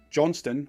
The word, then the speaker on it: Johnston: Johnston, with the T but no second syllable, is the border and Ulster spelling.